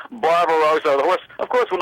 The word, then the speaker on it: Barbaro: I went Barbaro and I called him Barbaro the whole race there and after the race I found out was named after a painting and the correct pronunciation was barbar Roo the horse of course